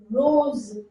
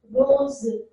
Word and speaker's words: rose: Rose, rose, z sound, rose, rose, zebra, zebra sound, rose, rose.